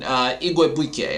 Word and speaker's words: Igwebuike: Then you're going to see Carlos Washington and Godwin Igwebuike, I think is how you say his name. I finally learned how to pronounce that one.